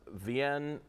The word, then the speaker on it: Vien: Vien Pomachan, that's how you pronounce his name.